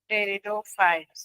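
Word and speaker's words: Pteridophytes: sales and red blood पप्पल्स of mammals option C है sperms of ब्रायोफाइट्स sperms of ब्रायोफाइट्स एंड टेरिडोफाइट्स इसमें भी silent रहता है पहले तो ठीक है टेरिडोफाइट्स एंड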